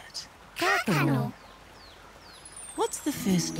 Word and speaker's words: kākano: Let's all say the word together, and then you can try and spell it. Kākano.